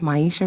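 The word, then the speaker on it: Maiysha: Oh, it's Maisha Rashad. You need me to spell it for you?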